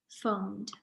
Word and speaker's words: phoned: Phoned is an interesting word because we spell it with PH, but PH actually says F in this word. Phoned.